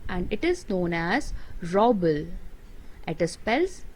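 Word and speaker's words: rouble: currency of russia and it is known as robel at the spells r o u b l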